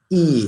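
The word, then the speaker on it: 意: have a term called e it sounds like long e as it's spelled why I they don't call it ye is actually e and E it means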